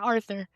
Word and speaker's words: Arthur: So Arthur, is that the right way to say it? That's right. That's right. Like author with an R, Arthur.